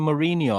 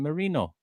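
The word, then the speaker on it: Merino: this guy's name because people keep on saying I'm saying Mourinho. I'm not saying Mourinho. I'm saying Marino.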